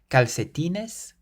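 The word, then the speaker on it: calcetín: C's in this word caltin caltin or caltin caltin so the first C is followed by an a meaning it's pronounced like a k and the second C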